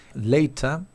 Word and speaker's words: later: Bien, tengo por ejemplo later, later, es más, esa T, ¿sí? Se pronuncia como una R, prácticamente entre dos vocales.